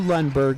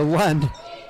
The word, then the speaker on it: Lund: To Lundberg now. To Lund. I threw an extra syllable into her name.